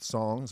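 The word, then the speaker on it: Psongs: it out it's called the record's called songs but it has a silent p so p-s-o-n-g-s uh great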